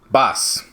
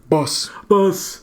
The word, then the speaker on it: Bas: Greenville's very own Boss. Oh, God. Bass. Not purposely. How did you say his name? I was curious about that. Boss. It's just Boss? Mm-hmm. Like Boss, like B-O-S-S, but it's spelled B-A-S?